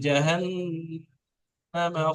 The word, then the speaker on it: جهنم: তো ছোট হায়ের যে তালাফুজটা হয়, উচ্চারণটা হয়, মুখের বাইরে থেকে হালকা ভাবে হয়।